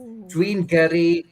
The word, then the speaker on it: gyrru: And there is a double R in that. So if you can roll your R's, you get bonus points, I think.